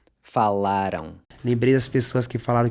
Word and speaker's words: falaram: Once again, that AM is pronounced ão. Falaram.